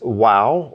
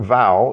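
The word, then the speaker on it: ו: This wow or vow is going to either have a V sound or a W sound.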